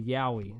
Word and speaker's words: Yowie: these I just found today 10 is the Yowie is that how you pronounce it right yes yeah in that just